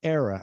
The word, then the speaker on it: era: about this before, but era, yes, this can be pronounced era or era. I say era, but you can say era if you prefer era, you can see that too. Yeah, both of them are acceptable.